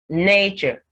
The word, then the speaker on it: nature: the word nature nature when you pronounce nature and if we try to hum it you can tell the syllable that is pronounced with more emphasis nature the nay is more pronounced that is the stressed syllable in the word government